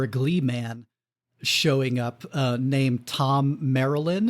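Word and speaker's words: Thom Merrilin: Gleeman showing up, named Tom Marilyn, whose name you would probably not know from the spelling because it looks like Thom or Thome or something. But officially, I think Tom Marilyn, who is this sort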